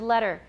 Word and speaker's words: letter: with simple phonetic symbols consider though the pronunciation of the word letter for most people most speakers of american english there's no tea in us there's no t sound in this word at all it's the and so